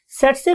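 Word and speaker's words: tsetse: हम बोलते कैसे हैं इसे हम बोलते हैं स्टूडेंट्स से से फलाई सेट से फ्लाई बिकॉज के टी is silent over here हम टी नहीं बोलते तो वर्ड इ सेट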